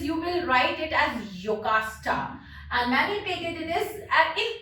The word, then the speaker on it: Jocasta: So in Greek, German language, J is pronounced as y. It's not j. It's y. So many places you will write it as Jocasta, and many places it is in English.